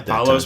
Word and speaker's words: Apollos: Bryan Payne with Apollos. I said it right. Apollos Partners, yes.